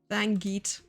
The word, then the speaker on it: Van Geet: It's spelled V-A-N space G-E-E-T. Van Geet opening.